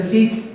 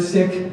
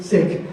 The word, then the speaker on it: Sikh: so for your information do not pronounce the word sick as in seek if you Google any videos from England in England they all say see and it's actually sick so let's do a